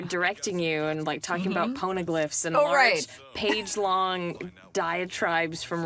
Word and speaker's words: poneglyph: I mean, I remember directing you and, talking about poneglyphs and large page-long diatribes from Robin about poneglyphs. Poneglyphs. And then Corn pone. Yeah, yes, that is how we remembered how to say it, corn pone.